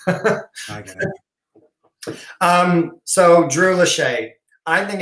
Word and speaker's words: Lachey: Lachey. It's spelled that way right here. Lachey. It just needs a K for like a latchkey kid.